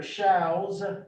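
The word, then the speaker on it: Schauss: my name is dr schau's show ws it's pronounced like cows um our my ancestors americanized the spelling but not the pronunciation it was s-c-h-a-u-s-s um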